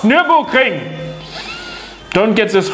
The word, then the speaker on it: Nürburgring: Oh, well, this doesn't matter because you say other things wrong also, like Nürburgring, when it is actually pronounced Nürburgring.